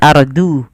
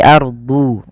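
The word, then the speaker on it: أرض: Kemudian pada lafal huruf dad harus bedakan antara huruf dal dengan huruf dad. Jangan ardu, tapi ardu, ardu mim baquliha.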